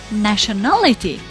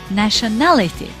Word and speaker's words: nationality: However, nationality, the stress was on the third syllable, na, the syllable na, nationality.